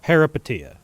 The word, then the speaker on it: Peripeteia: Welcome back, boys and girls, once again to Parapetia. Yes, I uh finally looked up how to pronounce it. It's Parapetia.